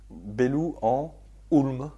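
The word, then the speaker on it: Bellou-en-Houlme: Bellou en Hulm. Ulm. H O U L M E. Oui, c'est pas toujours facile à prononcer.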